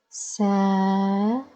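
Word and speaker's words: سَب: Okay, that's why the ba is pronounced without vowels.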